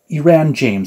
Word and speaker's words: Iran James: Iran James, I think is how you pronounce the name. It's not Aaron, but it's Iran, I think.